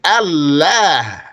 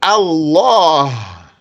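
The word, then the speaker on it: الله: directly to the lamb the lamb that is pronounced heavily yeah and then you're going to also change the pronunciation of the Lamb so you're not going to say Allah you're gonna say Allah to glorify the expression so it became Allah ah however that lamb is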